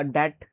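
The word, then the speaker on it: debt: तो इसको बहुत बच्चे डेप्ट डेप्ट पढ़ते हैं, लेकिन आपको पता होना चाहिए, क्या पता होना चाहिए? यहाँ पे बी साइलेंट हो जाता है। ठीक है, तो इसको डेट पढ़ेंगे।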